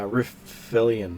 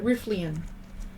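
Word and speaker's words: Riflian: refill it with uh refillion yes I can't really pronounce it the way it's spelled r r i uh r-i-f-l-i-a-n riffley and woods uh rifflion uh okay so is there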